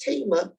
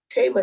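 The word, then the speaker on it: Thema: n t dr tama bryant that's how it's pronounced tema tema tema is a ordained clergy in the african methodist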